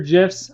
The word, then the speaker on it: GIF: Next button over is GIFs or GIFs. I'm going to call them GIFs because that's really how it should be pronounced. It's even called Giphy, guys. Look, Giphy, GIF.